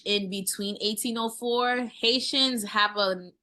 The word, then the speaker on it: 180H4: you named it so it's called 1804 Cuisine so it's 1 180 H4 Cuisine the reason why I